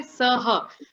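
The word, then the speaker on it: सह: This is the where you actually have to say saha. You cannot say S-A-H capital.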